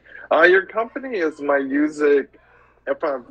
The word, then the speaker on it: Myooz: so it it's um it's pronounced music it's just the Latin Style of it um yeah so uh